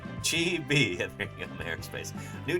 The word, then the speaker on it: chibi: It's pronounced Chibi.